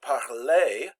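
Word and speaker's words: parler: je parle tu parle the infinitive was pronounced parle the R is silent but the the EE at the end there is pronounced a and that would be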